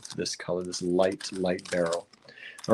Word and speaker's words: beryl: by the way b-e-r-y-l I know my pronunciation Probably sounds like a barrel like you would go over the falls hopefully don't go over